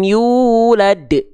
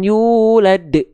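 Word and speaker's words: يولد: yulad ya itu karena seolah menambah ada Hamzah sukun bukan yulad yulad jangan ditahan de de de ingat sudah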